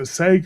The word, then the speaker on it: Sega: because I don't think that was made by Sega, was it? I can't remember. Driver, that's made by Ubisoft. Yeah. So is it Sega or Sega?